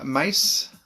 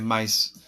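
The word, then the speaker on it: Ma$e: This is Mace, which is spelt MA $E.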